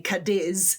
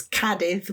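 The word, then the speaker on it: Cádiz: So, Kadiv, the accent is on the A. People normally say kadis, but it's not. It's kadith because the accent's on the a.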